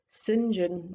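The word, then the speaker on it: St John: cultured voice you know pronouncing his name as ethan sinjan davies i tilt my head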